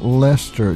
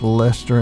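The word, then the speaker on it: Leicester: pronunciation by the way it's pronounced Lester just like Lester in England so don't say Lester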